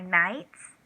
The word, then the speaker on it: knights: An emblem, an identifying emblem used by knights. K-N-I-G-H-T-S. Knights. K, because K is silent.